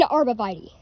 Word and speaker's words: arborvitae: Technically, I would say it's technically it's an arborvitae. That's how you pronounce it. It's an arborvitae, not arborvitae like many other people would say. It's actually arborvitae.